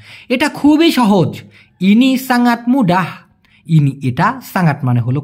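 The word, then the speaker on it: muda: শুধুমাত্র যদি মুডা বলেন, মুডা লাস্টে যদি আ উচ্চারণ হয় তার মানে হলো কাঁচা অথবা অল্প বয়স্ক।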